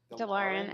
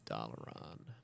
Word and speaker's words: Dalaran: Now I need to go to Dalaran. So we call it Dalaran. How does that DeLorean. make you feel? Is that actually how Americans say Dalaran?